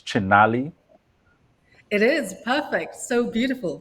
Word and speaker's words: Chinali: So we have on set with us Jimmy, and did I get the pronunciation right? It's Chinali.